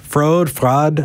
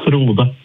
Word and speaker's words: Frode: Frode, how do you say your name? Ah, the same question as last week. It's Frode.